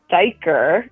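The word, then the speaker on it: duiker: It's called a dyker. It's spelled D U I K E R.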